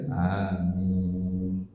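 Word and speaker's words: آمين: Wa yaqula ba'daha amin, dan setelah Al-Fatihah membaca amin. Nah, kata amin yang bermakna kabulkanlah ya, amin itu artinya istajib, kabulkanlah. Itu A-nya panjang, Mi-nya juga panjang. Amin.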